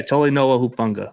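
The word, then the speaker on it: Talanoa Hufanga: He said he didn't know how to pronounce the name. Tolinoa Hufunga. Toinoa Hufunga. Yeah, Tolinoa Hufunga.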